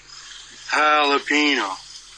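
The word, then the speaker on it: jalapeño: The J's like an H, Ricky. Jalapeno. Not jalapeno.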